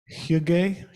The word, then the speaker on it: hygge: So she gives an example of hygge, Danish, Norwegian. And Cecilia, how do you pronounce that?